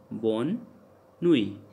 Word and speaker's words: bonne nuit: Like you can see, like in the ending T is there. And I told you that T never pronounced in the ending. So that's why bonne nuit.